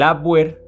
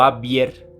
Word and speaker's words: Abwehr: El Abwehr o Abwehr, por su pronunciación en alemán, palabra que literalmente significa defensa.